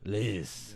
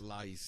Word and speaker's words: Leis: How do you pronounce your last name? Leis? Leis. Is it French? No, it's German. Leis. So I had a kinda Spanish French. teacher in high school that says it's pronounced Leis, Leis. Lice. but we say Leis.